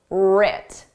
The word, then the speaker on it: writ: and failures were writ did you spell this starting with a r or with a W the W is silent just like in the word write the W is silent but in spelling it's there in pronunciation it isn't writ large what does writ